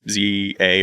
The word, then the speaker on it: ZA: I will say Pokemon Legends ZA or whatever they're calling it. That's definitely It's pronounced number Za.